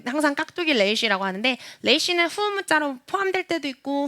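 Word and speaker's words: ריש: 근데 레이시는 알 발음인데 이 알 발음 중에서도 어떤 발음이냐면 독일어의 알 발음이에요.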